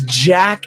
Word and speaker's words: Jak: Oh, it's Jak and Daxter. I got it mixed up. Okay, yeah, Jak and Daxter. I remember these, and I've literally been waiting for a Jak and Daxter and a Sly Cooper remake for